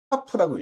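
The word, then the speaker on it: כף: 카프라고 읽어요. 그 다음 12번째 자음은 라메드라고 하는데 읽을 때는 라메드라고 읽고요.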